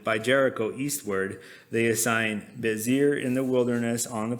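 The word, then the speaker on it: Bezer: And on the other side of the Jordan, by Jericho eastward, they assign Bezir in the wilderness on the plain. That's how you pronounce it.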